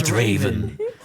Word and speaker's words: Draven: so I don't forget Raven Raven as in Raven but starting with a d yes Raven hey welcome to the league of Draven Draven is it spelled